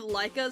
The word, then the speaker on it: Leica: The like the Nike I I think of Leica, so I pronounce it like Nike.